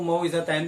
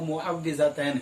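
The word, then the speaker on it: معوذتين: लोग जो उर्दू वाले हैं जिनको प्रोनाउंसिएशन नहीं पता, वो मुअव्विज़तैन भी कह देते हैं, लेकिन लफ्ज़ जो है वो मुअव्विज़तैन है।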